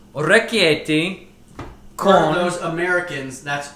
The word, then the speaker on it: orecchiette: So it's orecchiette For con. those Americans, that's orecchiette.